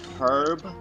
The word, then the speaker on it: herb: I'm pretty sure in the word herb, you don't pronounce the H.